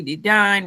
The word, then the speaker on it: Dedine: So listen, again, my name is Dedine, rhymes with Divine, the executive chemist at Pure Chemistry.